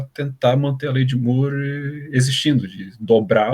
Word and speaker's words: Moore: qual o processamento dobra Moore, ou More, enfim, mas a pronúncia certa é Moore.